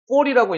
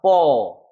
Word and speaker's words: fall: 그래서 우리가 콜이라고 읽는 게 아니라 call, fall이라고 읽는 게 아니라 fall.